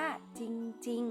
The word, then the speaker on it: จริง: เนี่ย เวลา เรา อ่ะ เรา ไม่ ต้อง ออก เสียง เรือ ควบ กล้ำ นะ คะ เพราะ ว่า เป็น คำ ควบ กล้ำ ไม่ แท้ นั่น เอง อ่าน ว่า จริง ๆ นะ คะ ไม่